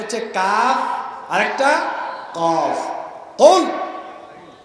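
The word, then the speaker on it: قل: কুল মোটা করে হবে কুল। হে নবী আপনি বলুন আল্লাহ একক একক। হে নবী আপনি বলেন আল্লাহ একক একক। এখন আপনি যদি এটা পড়ার সময় মোটা করে কাফ উচ্চারণ করতে না পারেন, আপনি যদি চিকুন করে বলেন যে কুল, কি কুল? কুল মানে খাও। কুল মানে কি? খাও।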